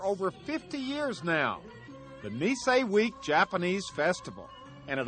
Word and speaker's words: Nisei: Nisei. Is that what you thought? Yeah. Knee hyphen S-A-Y.